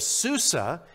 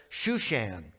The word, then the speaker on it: Shushan: a citadel your bible instead of susa if you have a new king james on your lap your bible says shushan it's the same city just with a different pronunciation and reading on he